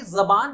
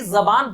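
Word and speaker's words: ज़बान: ज, ये जो बीच में डॉट लग गया ज के नीचे, नाउ इट्स प्रोनाउंस ज, ये इट इज नॉट जेड, इट इज जेड, ज। When your tongue touches your teeth, then the sound comes, it is z।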